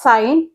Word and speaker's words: sine: written over here sign this is pronounced as sign s n is a